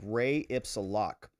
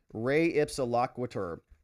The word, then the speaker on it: res ipsa loquitur: There's a concept I was thinking about in the law called re ipsa loc. This is an old Latin phrase. Nobody knows how to say it. Re ipsa loquitur is the thing.